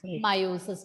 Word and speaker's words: meiosis: E is silent in the second one. Mitosis and meiosis.